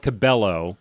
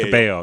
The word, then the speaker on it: Cabello: I It's spelled like Cabello but because like it's the Hispanic name is pronounced Cabo.